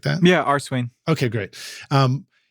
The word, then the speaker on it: Arswain: And particularly in your music and Arswain, am I pronouncing that the right way too? Just Arswain, like that? Yeah, Arswain.